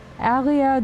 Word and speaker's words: Harrier: Pleased to make your acquaintance, Harrier Dubois. I don't pronounce the H because of French habit, but it's alright.